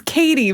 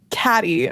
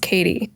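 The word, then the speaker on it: Cady: It's Katie, but she says Caddy. I'm going to call you. Right. Yeah, cuz that's how it's spelled. C A D Y. Yeah, but it's pronounced Katie.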